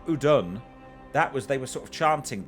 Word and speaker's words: Udûn: A strong 6th episode, which Udûn was the pronunciation. Udûn.